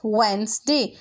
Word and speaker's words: Wednesday: Today is वेंसडे. WEDNESDAY, डे. डी को यहाँ पे हम साइलेंट कर देंगे, मीन्स के इसको हम नहीं पढ़ेंगे. सो ये क्या बन जाएगा? WEDNES DAY, वेंसडे, वेंसडे.